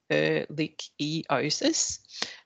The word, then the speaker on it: ehrlichiosis: It's pronounced ehrlichiosis.